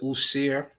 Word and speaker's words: Osiris: Yeah, you could pronounce it Usir as well when you get into the demonic.